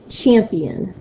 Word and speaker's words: champion: it so for example the word champion champion do you hear me saying more of an emphasis on the champ for the P for the end champion you'll hear me saying more with the front part so after the word